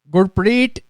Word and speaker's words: Gurpreet: How do you say that? Gurpreet. Gill. Really, babe? That's how you say it.